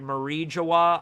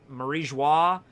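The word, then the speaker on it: Mary Geoise: I've heard Marie Joie. More of like a joie at the end. I've heard so many different forms of it. I think in the anime, at least in the dub, they say Marie Joie. That's why I say it that way. I've heard Maria Joie. A bunch of different ways to say it.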